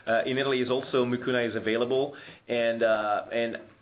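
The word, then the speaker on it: Mucuna: available over the counter is spelled m u c u n a is mukuna uh purin I I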